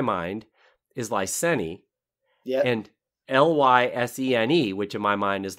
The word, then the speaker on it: Lysene: Noun, Lysene, adjective. Yes, I can see that. Although I might put an extra syllable on the end of Lysene. I might make that Lysene.